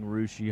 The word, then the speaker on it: Russia: Spelled like Russia, pronounced Rushi. I was going to say Russia, and I knew that was not right.